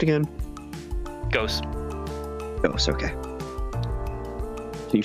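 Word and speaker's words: Gose: Whenever I see Ghost, how's it pronounced again? Ghost.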